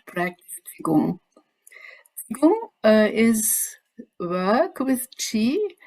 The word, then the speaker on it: Qigong: It's pronounced Qigong in Chinese.